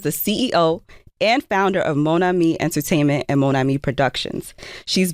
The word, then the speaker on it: Monami: But you understood the pronunciation because a lot of time people are like Monami or I'm like just say my name and then me. Mona me I really wish I I I could speak.